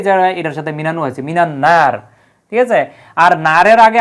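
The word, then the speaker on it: مِنَ النَّار: কিন্তু এই জায়গায় দেখেন মিনান্নার আলিফ লামের কিন্তু কোন উচ্চারণ নাই এই নুনটা হচ্ছে আল হুরুফুস শামসিয়াত অর্থাৎ এটা হচ্ছে সূর্যাক্ষর সূর্যাক্ষরের পূর্বে আলিফ লাম আসলে আলিফ লাম উচ্চারিত হয় না বরং ওই সূর্যাক্ষরের উপরে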